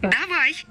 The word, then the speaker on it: давай: Da, vai. Now you have to look into where the stress is being placed when it is pronounced. So let's listen to that one more time. Давай.